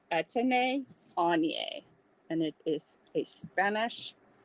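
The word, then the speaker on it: Etienne Aigner: So this is pronounced, next time you get it, it is pronounced Etienne Anye.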